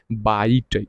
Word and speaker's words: byte: हम लोग कहते हैं बाइट। स्पेलिंग देखिएगा, BYTE, इसको क्या पढ़ेंगे, बाइट पढ़ेंगे, और BIT को हम लोग क्या पढ़ेंगे, बिट कहेंगे। ठीक है, तो 8 बिट बराबर 1 बाइट हो जाएगा।